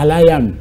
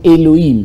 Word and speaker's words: Elohim: Israël un mot mal prononcé qui est tiré de l'hébreu Yasharal, qui veut dire attaché à Alayam. Alayam que vous appelez faussement, une mauvaise prononciation, Elohim, c'est Alayam.